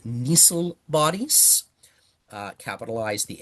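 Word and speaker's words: Nissl: uh to form dark colored uh structures called nisil bodies uh capitaliz the N and Nissil N I SSL named after the dude who discovered it.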